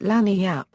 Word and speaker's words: lagniappe: They pronounce it lagniappe.